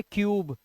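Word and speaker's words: cube: इसका साउंड जो है यू का होगा जैसे इसे पढ़ेंगे क्यूब इसे कुबे नहीं पढ़ लेंगे इसे टने नहीं ये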